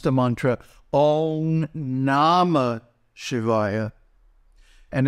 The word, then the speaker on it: Śivāya: Na, ma, then Śivāya is 1 beat for the shit because it's short, 2 beats for the va because it's long, and 1 beat for the final ya.